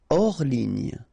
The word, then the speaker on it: hors ligne: Hors ligne. Final here not pronounced, so ligne. And then here, S is not pronounced, the final one, so hors. And remember, H doesn't exist.